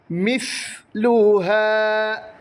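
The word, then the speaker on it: مِثْلُهَا: ഒരു ശബ്ദം അവിടെ വരണം മിസ് ലുഹ സ ആണ് സീൻ അല്ല മിസ് എന്ന് ഉച്ചരിക്കാൻ പാടില്ല മിസ് ലുഹാ ഫിൽ ബില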